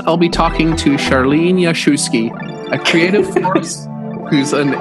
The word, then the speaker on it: Jaszewski: She goes, no, your name, Jaszewski. You know, just like, it was funny. So even I was pronouncing it wrong, so don't worry about it. So the SZ I thought was an SH sound.